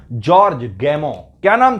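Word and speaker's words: Gamow: George गैमो याद रखना, वैसे तो स्पेलिंग लिखते हैं तो GAMO आर, मतलब आर आ जाता है, गैमोर आ जाता है, लेकिन जो प्रोनाउंसिएशन होगा वो जॉर्ज गैमो होगा।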